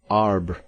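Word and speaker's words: arbre: a piece of bark he learned from darno that it was pronounced um and in the same way he was taught to pronounce ape songs and tree arb he was a most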